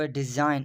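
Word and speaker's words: design: अब डिज़ाइन, अब डिज़ाइन में भी जी जो है वो साइलेंट है।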